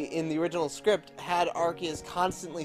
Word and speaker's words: Arceus: Well, in the translation of the Arceus movie into English, first Arceus? Of all, they call him Arceus. Yes, second of all, that is the correct way to pronounce it.